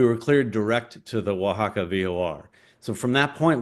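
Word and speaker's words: Oaxaca: happened is we were headed down to uh waka Mexico and it's spelled like okaka but it's pronounced Waka and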